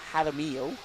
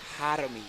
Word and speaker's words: Jaramillo: Jaramillo. The J is said like an H. Jaramillo. Yeah. And the double L's is smelled like a ilo. Jaramillo.